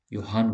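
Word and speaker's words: Johann: में गुटेनबर्ग जो है योहान गुटेनबर्ग लिखा इसका नाम योहान गुटेनबर्ग भले लिखा जे जो है लेकिन इसको ऐसे भी बोला जाता है योहान गुन बट य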